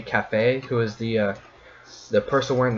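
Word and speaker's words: Kafei: Yep, I pronounce it as Kafia. Apparently it's supposed to be Cafe, who is the person wearing the Keaton mask.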